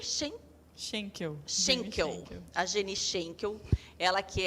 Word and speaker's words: Schenkel: Como que pronuncia? Schenkel.